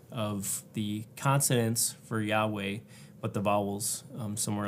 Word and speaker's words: Yahweh: of Jehovah it's really a misnomer it's a mispronunciation of the consonant for Yahweh but the vowels um somewhere else so when